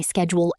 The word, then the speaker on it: schedule: I check my schedule every morning. My schedule is very busy this week. One important thing. In British English, schedule is pronounced schedule. In American English, schedule. Both are correct.